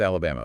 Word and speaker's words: Alabama: Let's start with Alabama. Four syllables. Where's the stress? Third syllable. Alabama.